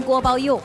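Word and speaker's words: 锅包肉: 锅包肉必须念成锅包肉。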